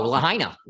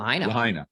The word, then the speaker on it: Lahaina: city and Brad what's up what's the proper pronunciation of that City Mount oh Lahaina Lahaina okay yeah and I've heard it I've heard